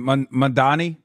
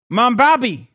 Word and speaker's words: Mamdani: I got stomach poisoning trying to take a shot every time someone says Mamdani's last name wrong. You mean Mamdani? Mambabi. Mamdupada. Mandandi.